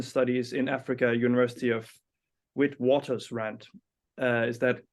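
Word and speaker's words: Witwatersrand: center of Indian studies in Africa University of with Waters rant is that correctly pronounced that's right that's right then we're good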